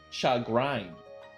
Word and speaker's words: chagrin: That's from French. In French, it's pronounced chagrin.